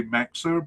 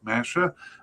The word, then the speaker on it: Mexer: I think I used to say Mexer but um uh the announcer in 2023 pronounced it more like Messa.